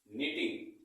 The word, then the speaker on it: knitting: तो इसको हम क्या पढ़ेंगे, इसको पढ़ेंगे निटिंग। क्या पढ़ेंगे, निटिंग। यहां पर भी के साइलेंट है।